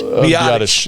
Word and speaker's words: Biadasz: All those guys seem to be How you pronounce that name again? Biadasz? Biadasz, yeah.